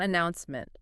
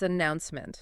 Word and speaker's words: announcement: It's not announcement, it's announcement. Yes, exactly. You really have to lean your vocal weight into that middle syllable.